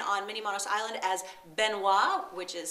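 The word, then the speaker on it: Benoit: know him online on Mini monos Island as benois which is spelled b n oi T it's a French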